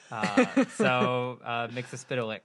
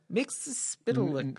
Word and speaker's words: Mxyzpixilated: Mxyzpixilated. Mxyzpixilated. Mxyzpixilated. Yeah. It's a spitlick. Because he pronounced it for himself, right? It's like mix, yes, spit, lick.